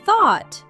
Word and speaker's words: thought: And thought sounds like aw.